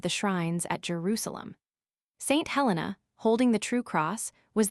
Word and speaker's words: Helen: Helen, unfortunately generally pronounced Ellen, was used from the first in Scotland, Eene or Ailen in Ireland.